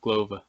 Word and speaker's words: Glover: Oh, it's spelled like glove, but Glover.